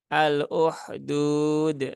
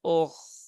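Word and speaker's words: أخدود: ee ada ko ya Ko yang sukun nah ini juga perlu menjadi perhatian karena biasanya terbacanya menjadi H ya aluh al-uhdud Nah kalau uhdud dia menggunakan ha ya kalau Ko Dia AL ukh ukh nah n ukh nah begitu tapi juga tidak perlu sampai berlebihan ya ngoroknya Ee kalau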